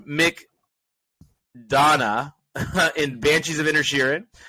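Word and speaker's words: McDonagh: up directing we've got Martin McDowell uh pardon me Martin Mick Donna in banshees of inner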